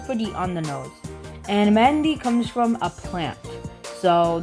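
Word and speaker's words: Mehndi: And it sounded weird when I said that because here in like my house we say Mehendi, but apparently it's pronounced Mehendi, so whatever, I'm calling it Mehendi.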